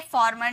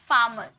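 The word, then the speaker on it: farm: पर र आपको दिखा फार्म नहीं बोलेंगे फाम येय र जो होता है ना ये आधा में साउंड होता है ठीक है फाम फाम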